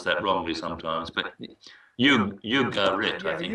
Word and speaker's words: Ugarit: I pronounce that wrongly sometimes, but Ugarit, I think. Ugarit, yes.